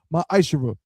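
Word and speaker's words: מעשר: tithes which is a commandment you can find this in numbers 18 to 21 and Malachi chapter 3 verse 8-10 means 10th in Hebrew pronounced myisher 10% of every penny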